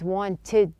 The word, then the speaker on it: wanted: Now notice that the T sound in the word wanted, the T is dropped. This is not an uncommon practice when the T follows an N.